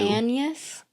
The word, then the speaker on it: Agnes: Exploring William Shakespeare and his wife um Anas and how they may have reacted to Annas. So it's spelled like Agnes.